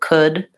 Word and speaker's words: could: were talking about cold could is a word an LD word where we don't actually say that so it has this vowel o and in IPA the the c s-- letter C says Cooke case on so it's like this could this is the same vowel that's in good so could and good rhyme with each other good Noel learned we